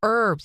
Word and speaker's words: herbs: that too herbs it's herbs you don't pronounce the h or maybe it's me